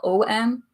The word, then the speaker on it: Om: So if you want to think about it like letters, it's A-U-M, but it's spelled O-M. So the kind of shape of the mouth is like an rather than an om, if that makes any